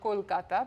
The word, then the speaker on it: Kolkata: the city of Kolkata which is now called Kolkata because we've all gone back to pronouncing the names in the Indian way and that was the